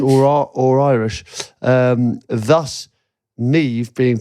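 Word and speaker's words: Niamh: For example, MH makes a V sound Yeah, we know. in Neve. Gaelic Neve. or Irish, thus Neve being pronounced as it is.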